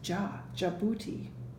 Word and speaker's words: Djibouti: That's another funny word because it starts with a D, J-I-B, but you say that first part is Djibouti.